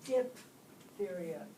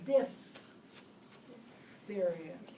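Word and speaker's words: diphtheria: the spell it right everybody says dip theod but it's diff theod yeah diff theod man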